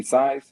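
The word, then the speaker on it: Syas: name right you see size s-y-a-s everybody calls me size it's pronounced like s-i-z-e so that's last size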